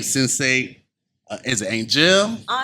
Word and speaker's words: Angelle: Is it Angel? Angel. Angel. Yes. Like the letter pronunciation.